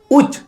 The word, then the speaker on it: ᱪ: The second letter of the set is uch. This letter is pronounced uch in Shantali.